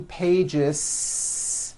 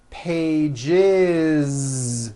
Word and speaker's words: pages: is it's not two pages unvoiced no it's two pages with a voiced Z even though you spell